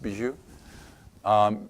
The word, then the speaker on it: Bijou: His name is Bijou. It's pronounced Bijou.